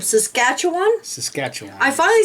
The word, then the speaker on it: Saskatchewan: and I can never say this name Saskatchewan Saskatchewan I finally said it right yay and Manitoba